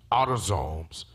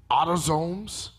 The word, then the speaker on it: autosomes: types of chromosomes and it's called autosomes like automatic it's autosomes and which has to